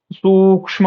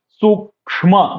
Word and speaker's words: सूक्ष्म: स्थूला, सूक्ष्म, सूक्ष्म, यहाँ ' सा' की तुलना में 'शा' पर ज़ोर दिया गया है, और 'का' के उच्चारण पर ज़ोर दिया जाएगा, सूक्ष्म, सूक्ष्म।